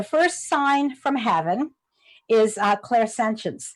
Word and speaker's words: clairsentience: sign from heaven is clairsentience I'm gonna say and these are French words a CLA IR is a French word that means clear so clear sentience some people pronounce it or clear sentience